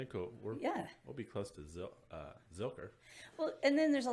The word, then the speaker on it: Zilker: So Zucker Park. Zucker Park. Zucker. Zucker Park. I know I'm saying it wrong. Just throw that out there now. Watch out for the grammar police. It's the big park in the middle of Austin. Zilker. There you go. Zilker.